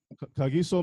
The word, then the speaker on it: Kagiso: Did I pronounce your name? Yes, that's good. Kahiso means peace or shalom itself. Kagiso means peace?